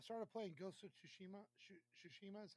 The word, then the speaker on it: Tsushima: Tsushima is how you say it?